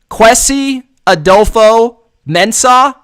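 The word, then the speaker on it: Kwesi Adofo-Mensah: minnesota vikings general manager this is my best shot quessy adolfo men's no redo that quessie adolfo mensah mensah mensah we're gonna go with mensa adolfo mensah that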